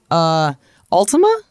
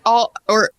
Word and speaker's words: Altama: events, the Battle of Altima? Yes, it's Altama is how you say it.